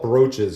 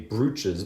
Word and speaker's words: brooches: so i always hate that they call it brooches because it sounds like you know the way it looks the way it spells it should be brooches but it's pronounced brooches i never understood that